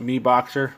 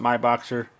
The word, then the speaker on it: MiBoxer: C4 smart charger um some pronounce it Mi boxer I pronounce it my boxer exact same thing we